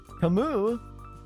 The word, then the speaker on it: Camus: Camus! Augusta Camus at the service. Camus? No, Camus! Camus is right! You've been saying it wrong, Ishmael. Obviously, it's Camus.